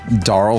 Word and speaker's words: Daryle: But this season, we are chatting with Daryle. It's like Carl, but with a duh.